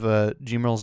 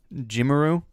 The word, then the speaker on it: Gmarl: Somebody mentioned the Japanese pronunciation of Gmarl's name is Gmaru, so the English should be Gmarl.